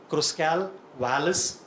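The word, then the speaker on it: Kruskal-Wallis: little time sounds little uh difficult when you pronounce it k r u s k l w a l l i s cross Cal Wireless test and remember it is a non-parametric equivalent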